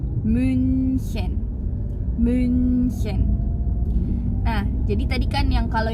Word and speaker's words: München: Cara bacanya coba bentuk mulut kita jadi huruf, mau ngomong huruf U seperti itu. Tapi yang teman-teman vokalin itu hurufnya I, jadinya U. Contohnya itu München.